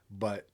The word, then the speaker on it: Radunz: And it's spelled Radunz, and it's not how I would have guessed